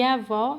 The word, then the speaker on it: avó: é o circunflexo e avó é lá agudo então vamos ver o que que significa esses acentos acento agudo indica a pronúncia de som aberto das vogais nas palavras olha aqui